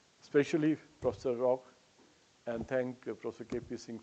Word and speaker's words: Roch: So Roch, it's how it should be pronounced. A little bit like it would be a K in English, rock. Like it's a little bit like that. You say Roch.